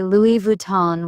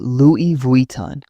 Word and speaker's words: Louis Vuitton: I noticed people say Louis Vuitton with a hard N. In French, it's Louis Vuitton with a nasal sound.